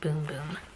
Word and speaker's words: Bum Bum: Brazilians favorite body part the bum bum pronounced boom-boom says right there so that's kind of